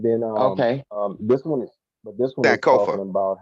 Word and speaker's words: Sankofa: that I'll post, and you could look on Sonakova. Was it Sonakova? How you say it? Sonoka 180. oh, I'll post it on the site, and then okay. this one is Sankofa. talking about how, yeah, Sankofa.